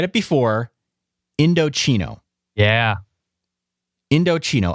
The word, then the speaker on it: Indochino: all right well listen I said it before indochino yeah indochino i n d o c h i n o it's pronounced indochino it is one of the largest